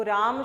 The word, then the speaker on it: रामः: लगा हुआ है तो इसका उच्चारण हम करेंगे रामः। तो यह जो विसर्ग है इसका जब उच्चारण करते हैं तो ह की ध्वनि निकल कर आती है।